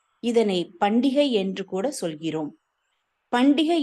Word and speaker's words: பண்டிகை: பண்டிகை என்பதை சரியாக உச்சரிக்க வேண்டும் என்றால் பண்ட ஈகை என்பதே உண்மையில் சரியானது.